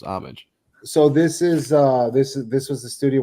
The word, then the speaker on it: Homage: So that's how it's pronounced then, is Homage. Homage. Yes. Yeah. Okay. There's always a debate on how you pronounce that. No, it's Homage, right? Okay. Yep. Yeah, I think it's Homage. Yeah, that's what I always thought it was.